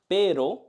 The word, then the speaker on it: pero: But when we say pero, we just feel one touch. When we say perro, dog, we feel many vibrations. But when we say pero, but, we just feel